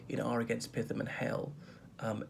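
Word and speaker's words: Hehl: um offering for sale can be can be appropriation can be theft in our against python and hell um h-e-h-l i think it's pronounced hell is it hell 1976 so offering to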